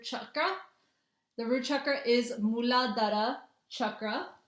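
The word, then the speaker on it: Muladhara: root chakra muladara. That's how you pronounce it.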